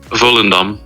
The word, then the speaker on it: Volendam: So just to make it clear, the pronunciation is Volendam? Volendam. Dom.